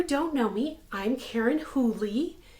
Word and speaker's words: Whooley: know me I'm Karen hully it's pronounced not woolly a lot of people